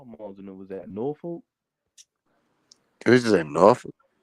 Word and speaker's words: Norfolk: Yeah, you don't say it that bad though, for real, because it's Norfolk.